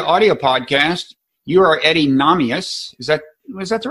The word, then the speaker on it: Nahmias: You are Eddy Nahmias. Was that the right pronunciation?